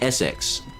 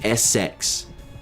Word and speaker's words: Essex: by the name of Essex. Now, you're probably wondering, what kind of name is that? Everybody wonders that exact same process, that exact same thought. Why does he have a name that is Essex?